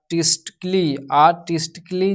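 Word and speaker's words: artistically: Rule number 3 कहता है यदि वर्ड के अंत में आइकली आइकली आए तो ए साइलेंट रहता है। जैसे कि यहाँ पे आर्टिस्टिकली जिसमें ए जो है आपका साइलेंट रहेगा। यहाँ पे लॉजिकली यहाँ पे जो है ए जो है साइलेंट रहेगा हमारा।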